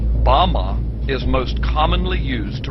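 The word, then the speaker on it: בָּמָה: which Satan fell is Strong's Hebrew word 116 pronounced Bama Bama is most commonly used to refer to a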